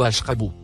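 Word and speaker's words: اشْرَبُوا: Le deuxième, et le troisième mot, en surbrillance bleue, se prononcent respectivement, kulu, ou ashrabu.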